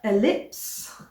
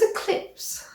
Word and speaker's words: ellipse: started my Miss solar ellipse I thought it's eclipse but it's spelled e-l-i-p-s-e so I think it's ellipse so it's by Nora